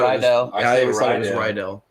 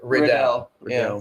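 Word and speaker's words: Riddell: do you say it some people say R ryel I always said ryell but it is Rell it is Rell makes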